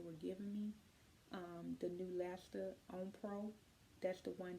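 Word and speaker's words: Neulasta: told you they were giving me um the new laster on pro that's the one that's supposed to help bring your white blood cells up it is spelled n e u l a s t a new lester on pro o n p r o the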